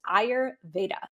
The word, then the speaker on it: Ayurveda: was like that can't be it but it's Aur Veda it's not I know it's a it doesn't